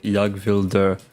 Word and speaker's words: jag: That's not pronounced Jag. Ninoc said I'm not Swedish though. I know one one Swedish phrase uh Yag and that's it.